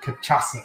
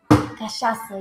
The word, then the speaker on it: cachaça: So the strawberry caipirinha with cachaça, if I got it right. Cachaça, yeah. You got it wrong. You were 50% cachaça. There. Cachaça. Cachaça. Why do I want to pronounce that with a hard C?